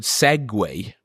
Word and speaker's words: segue: But what blows my mind is the word segue. It's actually written SEGUE. Yeah. Which is mad. Yeah. But like if you were to ride a Segway, that's spelled SEGWAY. Yeah, so Segway is probably like it's probably French.